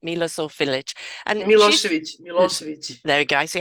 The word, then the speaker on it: Milosevic: And she's Milosevic. there we go. I see, I couldn't pronounce it like that.